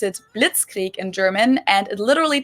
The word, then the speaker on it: Blitzkrieg: We pronounce it Blitzkrieg in German, and it literally translates to lightning war, because Blitz is lightning and Krieg is war.